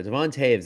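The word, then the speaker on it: Devon Toews: And Devin Taves is incredibly or sorry, Devon Devon Taves, that's a doesn't pronounce the way you'd think it would, but uh Devont Taves is another one that's just so underrated.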